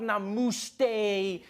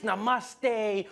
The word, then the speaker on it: namaste: on like dude it's not namaste it's namaste who messes up namaste this